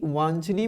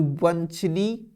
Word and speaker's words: वांछनीय: ठीक है, तो वंशनी, वंशनी आप उच्चारण करके देखो, वांछनी, वांछनी, और ये क्या लिखा हुआ है वंशनी, तो ये भी गलत हो जाएगा। ऑप्शन नंबर ए रहेगा हमारा राइट आंसर, वांछनी होता है।